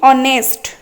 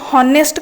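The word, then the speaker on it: honest: नेक्स्ट अछि ऑनेस्ट ऑनेस्ट रे हमर कोन ऑनेस्ट कहउचंती आमे को हॉनेस्ट कहउचंती कि हॉनेस्ट तो कहउनांती ना आमे कहउचंती ऑनेस्ट ऑनेस्ट माने साधु। ऑनेस्ट रे एच टा होचे साइलेंट रहइबो।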